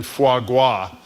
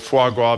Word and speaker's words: foie gras: passing legislation to ban foie gras. I think we were all teaching each other. Well, you were teaching us how to pronounce it. And apparently... with an R, not a W.